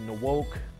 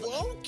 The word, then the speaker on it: Nwoke: school people call me nooke and then you know now just coming in college I wanted to get it right Chris woke ran wild woke is the true pronunciation the N is Sil